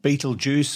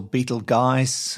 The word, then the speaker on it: Betelgeuse: to another star called Beetle Juice or Beetle guys uh there are several ways of pronouncing it Fred's always correcting me cuz I call it Beetle Juice but that's what I've always known it as now in late 2019